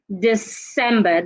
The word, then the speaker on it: December: Bas loose rise thec do not say the December the right word is December the C sounds like S letter C do not